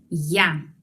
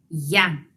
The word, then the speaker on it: я: Yo en ruso es я. Vamos a pronunciarlo. Я.